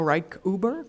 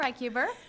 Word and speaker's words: Reichuber: But we will talk a little bit more about the working groups during lunch, and then Janell Reichuber, correct? Reichuber.